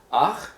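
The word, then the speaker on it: אָח: So this first one here, we have ach, which is the word for brother. So let's see you pronounce it. It's an aleph with a kametz underneath, and then the chet.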